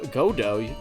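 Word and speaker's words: Godot: name is God go godo the tea is silent because that's the play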